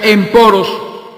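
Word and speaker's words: ἔμπορος: hebreo mercaderes hebreos y en el griego la palabra mercader se pronuncia en poros lo que se traduce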